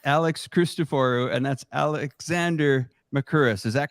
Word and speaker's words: Mercouris: That's Alex Christoforou, and that's Alexander Mercouris. Is that correct? Am I pronouncing that correct?